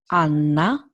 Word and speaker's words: Anna: and the female nouns Anna is not N, is Anna, Carla, and the male noun Andrea. This is very important. A, always A. When you see this letter, A, pasta, fragola, Anna, Carla, Andrea.